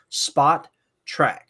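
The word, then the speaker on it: Spotrac: The name is pronounced Spot Track.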